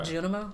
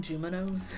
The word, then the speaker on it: Junimo: A Junimo? Yeah. Interesting. And I keep mispronouncing them saying Juminos for some reason.